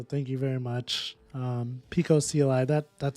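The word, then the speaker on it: picocli: Pico I I was like why can't I pronounce this I was calling I was trying to call it like pickokly it's Pico CLI Dan somebody called me out on that so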